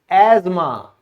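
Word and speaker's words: asthma: वो ऐसा हमने क्यों किया? क्योंकि यहां पे जो टी है ये हमारा साइलेंट रहता है।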